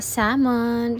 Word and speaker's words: salmon: ng eel at saka salmon, salmon. O parehas lang naman yun. Silent L.